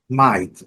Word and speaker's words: might: Light, sem comentários, GH, mudo e pronúncia do I com sonoro. Might é o verbo poder, deve, né, dever, coisa assim. O verbo modal, pronúncia bem simples, aquele mesmo padrão de light, might, padrão é mais ou menos o mesmo. M-I-G-H-T, I-G-H-T.